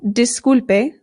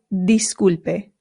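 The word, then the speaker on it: disculpe: So this is not dispe it is disulpe.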